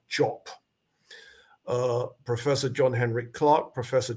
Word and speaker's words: Diop: We say Diop in the English-speaking world, but French people have told me it's not pronounced that, it's pronounced Jop.